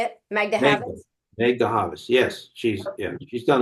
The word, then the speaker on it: Havas: And I believe we'll probably get back together, maybe even bring on Professor, it was Magdus, right? Is that how you say it? Magda Havas?